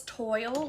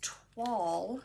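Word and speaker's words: toile: Yes, Carol, I never knew, like I said, I thought it was toil, like double toil and trouble, I guess. So I didn't know it was twall, which rhymes with fall.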